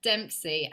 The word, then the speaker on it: Dempsey: fun time before the videos came on, Dempsey. Am I pronouncing your surname right?